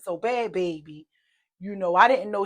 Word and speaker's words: Bhad Bhabie: it bad baby or bya baby I don't know her name you know but you know they said that the H is silent so bad baby you know I didn't